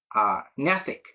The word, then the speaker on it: gnathic: So next to talk about a GN, rate pronunciation N, here GNATHIC, NATHIC.